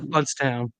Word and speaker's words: Blountstown: It's Bluntstown, pronounced Bluntstown.